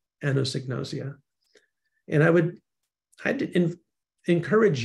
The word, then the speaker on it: anosognosia: profound unawareness of illness if you want to pronounce it this is a little trick I used rather than the phonetic spelling which always confuses me Ann knows egg nausea anosignosia and I would I'd